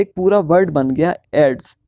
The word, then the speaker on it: AIDS: जैसे एड्स है, एड्स को हम AIDS तो नहीं पढ़ते ना, इसको हम एज अ वर्ड पढ़ते हैं एड्स।